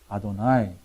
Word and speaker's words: 아도나이: 근데 이 히브리 사람들은 이거를 거룩한 하나님의 이름이기 때문에 이거를 발음하지 않고 전부 뭐라고 발음한다 그랬어요? 아도나이.